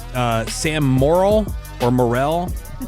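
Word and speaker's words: Morril: Do you pronounce his name uh Sam Moral or Morell? Moral. M O R R I L L. Yeah, it looks like it could go either way, but I've heard it pronounced moral.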